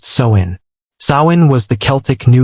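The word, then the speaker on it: Samhain: And the most powerful night of the year was October 31st, the festival of Sin, pronounced Soin.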